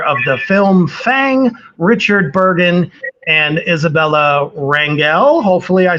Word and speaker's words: Burgin: And we're going to start this evening off with the great writer, director of the film Fang, Richard Burgin and Isabella Rangel.